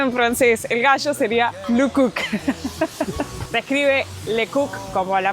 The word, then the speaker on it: Le Coq: El gallo sería Luk Cook. Se escribe Lecook como la marca, así que no